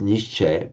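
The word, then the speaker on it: निश्चय: So in fact in um so in the nishe in fact in modern Hindi for example the word nishaya which they pronounce nishe in in Hindi um is is that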